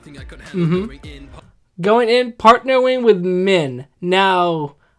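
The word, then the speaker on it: Myne: Going in, partnering with Min. Now, I'm pretty sure the anime pronounces her as mine.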